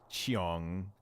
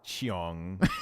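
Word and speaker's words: Cheong: say it like that Ian miles Chiang like did I miss hear that like what the Ian miles chiong yeah dude he goes chiong like bro it's just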